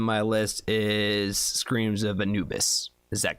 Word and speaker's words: Anubis: right screams of Anubis am I saying it right still because it's anab bus anab bus is Anna's new nickname and Anubis is the correct way to say it right okay cool all